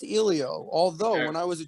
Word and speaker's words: Elio: oh yeah you know or elio it is pronounced elio although when i was a child um no